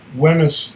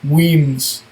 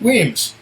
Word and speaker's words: Wemyss: It says here, if you can read that, to me it looks like Wemyss Malts, but it's really pronounced Wemyss Malts.